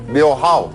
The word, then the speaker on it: Dhyo Haw: Diau Hao, Diau- bacanya Hao, gimana? Diau Hao. Diau Hao. Dio How.